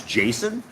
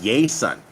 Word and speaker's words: Jason: country my name is Jason when I came down here people don't know how to say my name they call me yay son right because Jay's don't have that J sound there's no such thing